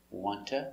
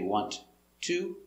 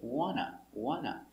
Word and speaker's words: want to: The sounds are linked together. Wanta. We don't say want to. It's wanta. Or you hear wanna. You can make both T's silent and say wanna or wanta.